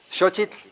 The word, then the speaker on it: Xochitl: No, not so, sho, X, SH, right? We should just spell it with an SH, right? Forget the X, please.